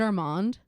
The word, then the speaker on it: Armand: And his dad's name was actually Armand. Is it Armand? No, it's Armand. But it's spelled Armand.